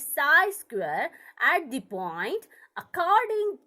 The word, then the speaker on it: psi: है ना, हमें साइन को पहचानते हैं अभी, इसको बोलते हैं पसी, लिखा जाता है पी एस आई, बट इसको प्रोनाउंसिएशन में is called as साई square at the point according to Max Born।